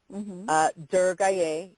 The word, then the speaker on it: Durgaye: Durgaye, D-U-R-G-A-Y-E-A.